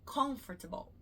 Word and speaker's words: comfortable: Comfortable, mas não é comfortable. Comfortable, a ênfase. A sílaba mais forte é o con, comfortable, OK? Assim como chocolate.